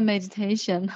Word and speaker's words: meditation: me to do the meditation, okay, at the current stage. So the meditation, you know, meditation. 1, 2, 3, 4 syllables together. meditation, and the third one, tation, should be stressed.